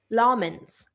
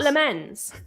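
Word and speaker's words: Lammens: our goalkeeper at United, his name is Sen Lmens. Yeah, Sen L. It's not Lemens. It's not lemons.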